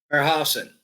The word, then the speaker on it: Herrhausen: I should pronounce his name correctly. Herrhausen.